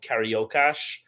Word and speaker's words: Carioca: there's a specific dialect in Rio called Cariocash, which is funny because it's spelled Carioca, but they pronounce it Cariocash, which is like its